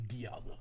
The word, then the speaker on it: Dialga: Technically Dialga. Dialga? This one is less egregious. Okay, so Dialga, D-I-L-I-A? It's pronounced, it's spelled die, but it's pronounced D. Dialga. The official Pokemon pronunciation. Dialga.